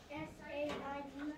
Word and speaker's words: said: S-A-I-D. That's right. And do you notice how that's extremely similar to lay? Laid and said. They aren't pronounced the same way, but they're spelled the same way.